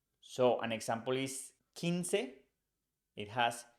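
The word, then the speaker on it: quince: the K in Kik the U is never pronounced so an example is kinse it has q u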